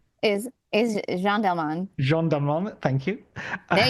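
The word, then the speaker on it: Jeanne Dielman: When it came to Chantal's Jean Delmain, is that a correct pronunciation? Is Jean Delman.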